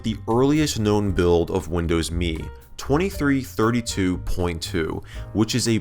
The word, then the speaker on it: Windows Me: releases set up screen and yes Microsoft and for the Emmy and Windows me to be pronounced just like the word me as evident in their advertising